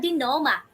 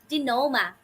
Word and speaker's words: denouement: The resolution or the denouement. Okay, this is how you pronounce this word, dear wonders. Denouement, not denouement or denouement.